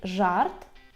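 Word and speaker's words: żart: з крапкою так і воно читається як ж ж наприклад у слові жарт жарт жартовач жартовач -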